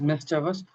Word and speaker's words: mischievous: Uh, it is me which is Miss Javas.